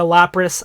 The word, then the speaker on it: Lapras: And yes, guys, I know that it's a Lapras.